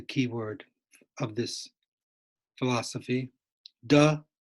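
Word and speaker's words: 德: De, Te, pronounced de, it means power.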